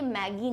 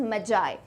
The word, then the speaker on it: Magi: में ये याद रखना, ये मैगी नहीं है ना। स्टार्टिंग में तो जिसने देखा होगा उसको मैगी की याद आ रही होगी, बट हमारी खाने वाली मैगी नहीं है, दिस इज मैजाई। इसका प्रोनाउंसिएशन में ज आता है, ठीक है।